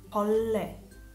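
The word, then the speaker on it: 벌레: Invece quando è tra due vocali doppia, si pronuncia come una doppia L. Polle, polle, un insetto.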